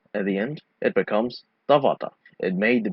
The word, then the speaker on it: tavata: Ta, va, ta. Actually, it's ta with a glottal stop at the end.